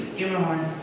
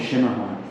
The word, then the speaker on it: Schermerhorn: Skimmerhorn, Skimmerhorn? I thought it was Schimmerhorn. Skimmerhorn. Skimmerhorn? I've been saying it wrong for years.